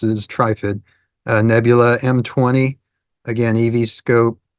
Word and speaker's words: Trifid: That's how you're supposed to pronounce it, is Trifid.